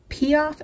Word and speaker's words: Piaf: at the side Kat Von D blush in piaf and that's how you pronounce that but I had this for a